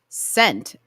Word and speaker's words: scent: The S and the C both make the S sound. So, which letter in the word scent is the silent one? The sea. By what reasoning? Because you always just pronounce the first letter.